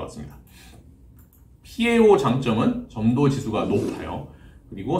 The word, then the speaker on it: PAO: 파오라고 읽으시면 안 되고요. PAO 또는 폴리알파 올레핀이라고 읽으시면 됩니다.